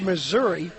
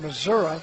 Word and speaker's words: Missouri: show me state we've seen uh the word Missouri we've seen used in various forms there's Missouri it's pronounced Missoura that's how the native say I think that's